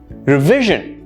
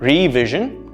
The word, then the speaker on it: revision: Revision, V being the stress word, not revision, no, revision.